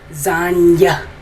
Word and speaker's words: Zanj: How do Boer people pronunciate the letter J? Y. Zanya.